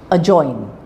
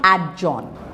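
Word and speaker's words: adjoin: Ad judge a judge a join a join so it's not ad Jo a join adjudicate Okay g silent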